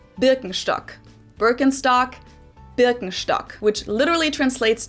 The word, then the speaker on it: Birkenstock: So, English speakers usually say Birkenstock. In German, we say Birkenstock.